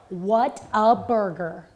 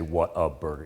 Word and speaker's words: Whataburger: he said you know whataburger i'm like yeah now we might go eight hours what a burger that that's clearly not from texas you don't say what a burger it's whataburger whataburger i'm sorry i